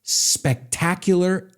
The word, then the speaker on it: spectacular: Ojo con la pronunciación, no es espectacular. It's spectacular Asian.